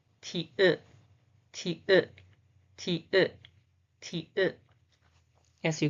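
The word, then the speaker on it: 티읕: Okay, the last page for today is this pronunciation is ta, ta, ta, ta, ta, ta. The name is ti-ut, ti-ut, ti-ut, ti-ut, ti-ut.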